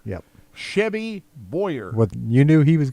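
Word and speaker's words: Boyr: Says Chevy Boy. It's not spelled that like Clint. It's spelled B O Y R. Okay. Clint is B O W Y E R. Yep. Chevy Boyer.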